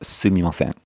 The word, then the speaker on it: すみません: Yeah, you should definitely use the proper pronunciation, which is すみません.